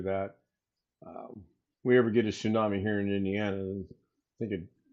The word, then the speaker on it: tsunami: I say tami but tsunami.